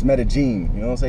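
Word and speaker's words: Medellín: in metagene oh okay people pronounce it meden but it's metagene you know what I'm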